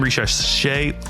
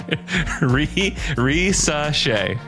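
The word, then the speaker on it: Risacher: With that game, Richasset, God, man, I have trouble with his name. Richasset, how do you say it, Andrew? Richasset. Again? Risashay.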